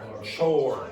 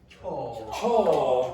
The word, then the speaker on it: chore: Chore. Chore. Now, if you're like Charles, Charles, how would Charles pronounce that? Chaw. Chaw. Okay, remember the English do not pronounce that R sound very much.